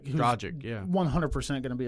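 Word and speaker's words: Dragić: Goran Dragic. Dragic, yeah.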